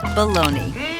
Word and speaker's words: bologna: It's spelled Bologna, but in America, it's called baloney.